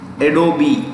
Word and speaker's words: Adobe: कैसे प्रोनाउंस करते हैं? एडोबी, ADOBE, ई भी प्रोनाउंस होता है, ठीक है?